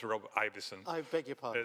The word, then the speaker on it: Ivison: I will I will correct the way you pronounce my name it's Robert IIs I beg your pardon it's okay nobody gets